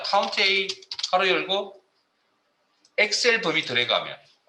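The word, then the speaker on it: COUNTA: 카운트 A라고 합니다. 뭐 카운터라고 읽으시는 분도 있는데 저는 카운트 A라고 읽겠습니다.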